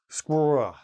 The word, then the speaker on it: squirrel: And then they go, squirrel, squirrel. Okay, because the RL is a very difficult combination of letters to pronounce, even for native speakers.